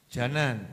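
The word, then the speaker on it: جنان: Salah itu bacanya. Wuhyil quluba wuhyil janan. Janan bukan jinan. Kalau jinan surga, janan tubuh.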